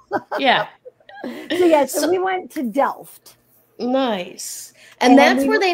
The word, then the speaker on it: Delft: In the United States say Delft because in English we think the T is silent. It's not here in the Netherlands.